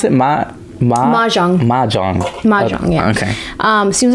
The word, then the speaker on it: Mahjong: Anyway, this how do you pronounce it? Mahjong.